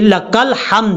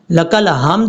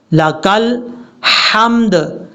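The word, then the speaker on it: لك الحمد: بعد ربنا لک الحمد، یہ لک الحمد ہے، لک الحمد نہیں ہے، یہاں پر بھی ہا باریک ہے، لک الحمد، لک الحمد۔ اب اس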